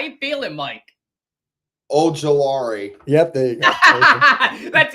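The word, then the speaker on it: Ojulari: Oh, Gelari. Yep. There you go. That's even better. Oh, gelari. That's how you say it.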